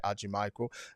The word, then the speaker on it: Hadjimichael: joined by a dear friend of mine, Noel Hadjimichael, or Michael in French as we said it, but I'd rather say Hadjimichael.